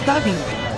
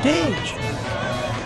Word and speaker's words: DAG: It looks like doggy, but it's pronounced daggy, or dage.